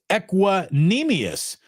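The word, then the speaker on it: Equanimeous: LD Studios says it's pronounced equanimous, not Menius.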